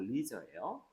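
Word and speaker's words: leisure: 스포츠 할 때 이리저가 발음이 레저가 아니고 리저예요. 여유로운 여유롭게 그죠?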